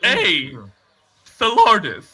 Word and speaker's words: Athelardus: No, Athelardus is how you pronounce it, but it's spelled the letter A, the word the, and then Lardus.